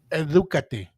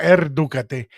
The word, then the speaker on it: edúcate: But the right way to say educate yourself would be Edúcate, caballero. Say that again? Edúcate. Edúcate, caballero. Yeah, edúcate, caballero. Edúcate. No, not erdúcate. Edúcate.